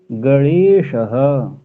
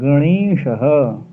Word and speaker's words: गणेश: हम सौधम चैलम कृषक गणेशः ऋण नहीं है ना नहीं नहीं गणेश गणेश गणेश ग पे अनुनासिक नहीं ण पे ही रहेगा गणेशः गणेश गणेश अच्छा